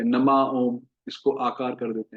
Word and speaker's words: नमो ओम: तो प्रायः जो गलत उच्चारण हम करते हैं, कुछ भक्त नमयोम कह देते हैं, नमयोम। कुछ, मैं वृंदावन में रहता हूँ तो यहाँ पर ज्यादा वेरिएशंस सुनने को मिलते हैं। नमयोम बोलते हैं या नमा ओम, इसको